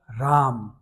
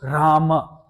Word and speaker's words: Rama: However, um Vishnu takes the form of Ram or Rama. Okay, both are the correct pronunciation.